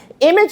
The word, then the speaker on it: image: Image is spelled I-M-A-G-E. Although we are hearing the J song, can you remember the rule that governs that? Yes, it is because of the soft G.